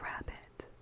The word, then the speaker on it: rarebit: This, it's spelled rarebit, but they pronounce it rabbit, and so we had an argument over whether there was an American pronunciation of it.